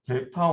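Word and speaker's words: δ: 여기 보시면은 W5에서 W5를 우리가 업데이트 할 때 쓰였던 얘가 델타 5원이 얘를 이제 델타라고 읽습니다.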